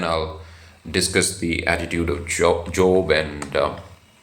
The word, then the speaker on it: Job: But I listened to some sermons of preachers from the West, and I noticed that they used to pronounce the name as Job. So Job seems to be the right pronunciation.